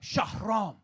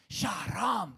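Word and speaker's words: Shahram: So, Sham is traditionally meant to be spelled with an extra H. It's meant to be S H A H R A M. Shaham.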